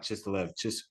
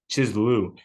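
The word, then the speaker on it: Kislev: I don't know, but that's the month that he talks about this stuff taking place in, or Chislu, not Chislev, Chislu.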